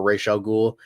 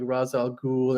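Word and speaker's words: Ra's al Ghul: and they'll have like a proper Ral ghoul rather than whitewashed raal ghoul in Batman Begins that Liam n had like the thing about that was they went and they pronounced it all like razal ghoul and really the settings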